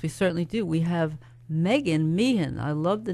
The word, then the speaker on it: Meagan: lower Manhattan high mega is that Megan or Meegan it Megan it is Megan well that's good to